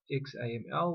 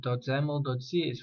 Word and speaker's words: XAML: created main window do xaml or pronounced as zaml as well and then a second file called main window.